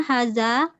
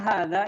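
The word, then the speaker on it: هذا: Kita kalau mengucapkan bukan gitu, tapi ma hadza itu ada 2 harokat ya. Ma hadza gitu ya. Ulang. Ya. Ma haza hajarun. Enggak ada matnya. Yang hajarun hadza hajarun.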